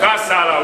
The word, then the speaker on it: Kassala: Je ne sais pas si je l'ai bien prononcé. Kassala. C'est ça, non? Kassala, oui.